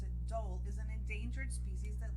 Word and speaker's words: dhole: You pronounce it dhole, is an endangered species that lives in Asia.